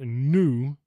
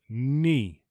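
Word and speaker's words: ν: thing for this one it is not new it is NI this is a little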